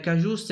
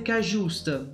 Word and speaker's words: Cajuste: e studiare gli ex cajust dovrebbe essere così il la pronuncia cajust prossimo acquisto del Napoli